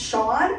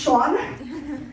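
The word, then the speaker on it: Eoin: name is Cen but they say no it's pronounced Sean or sorry let me get a character s for going in sorry it's pronounced Sean um but yeah they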